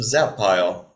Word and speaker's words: Zappile: at his ID it's yes I'm zappile this is Ryan zap pile and I love that it's like it's a perfect it's got two syllables it's broken nicely and uh that kind